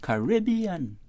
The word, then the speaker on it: Caribbean: known as the because that's my preferred way to say it right which is reminiscent of European mmhmm right uh-huh however some people choose to use the pronunciation Caribbean okay and I'll be